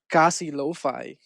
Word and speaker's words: Casilofi: You might not know this, but my first project was called Kasi Lo-Fi. That's spelled Casilofi.